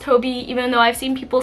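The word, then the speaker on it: Hobbii: then for my International friends I feel like hobby or people have told me like it's pronounced Hobie even though I've seen people say both Hobie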